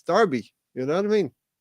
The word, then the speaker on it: Derby: 78 yes when is derby with an e pronounced Derby but it is that's just the way it is it's Derby you know what I mean Derby County you just have to get with the locals